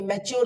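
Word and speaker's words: mature: चर फ्यू में चर जोड़ा तो फ्यूचर ओके मैच्योर लिखते हैं मान लीजिए एम ए टी यू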